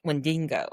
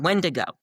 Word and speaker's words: Wendigo: more of a um Wendingo. I know I always pronounced that wrong. Wendigo.